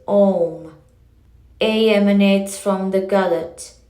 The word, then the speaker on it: Om: So, too, the letters A, U, and M are uttered as Om.